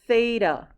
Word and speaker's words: theta: bar through it this is the greek letter theta okay it also like phonetically it makes the that sound like fin